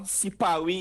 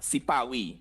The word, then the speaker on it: Sipawi: So in Patois, Sipawi is Siparia in Patois. Sipawi. Sipawi. Okay. Sipawi. So does it happen very often where the what we would consider the R sound is replaced by the W sound, as Yes.